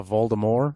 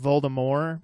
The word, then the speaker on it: Voldemort: That the T is supposed to be silent. Yeah, Voldemort. It's supposed to be Voldemort, but then in the movies they just started saying Voldemort, and she never corrected it, and they just...